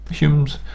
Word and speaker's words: Home: The Humes, which is actually Humes, can be spelled Hume, but can also be spelled Home, but they're all pronounced Hume.